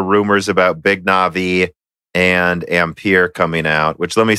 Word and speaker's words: Ampere: I kind of agree ampere is the way that it would appear to be pronounced now if they had the accent mark on their marketing which would be very pretentious but if they do I will say it a different way now no they wouldn't